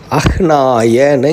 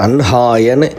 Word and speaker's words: அஹ்னாய: அஹ்னாய அப்படின்னு சொல்லியே எல்லோரும் நார்மலாக அப்படியே தான் ப்ரொனவுன்ஸ் பண்ணுறோம். ஆனால் அது அன்ஹாயன்னு வன்ஹி பிரம்மா அப்படிங்கிற வார்த்தைகள்லாம் அது மட்டும் சம்ஸ்கிருதத்தில் எக்ஸப்ஷனாக இருக்கிற சில கேட்டகரிஸில் இதுவும் சேர்த்தி, அதாவது எழுதின எழுத்தை விட ப்ரொனன்சியேஷன் மாறக்கூடியதுங்கிறது வெரி ஃபியூ.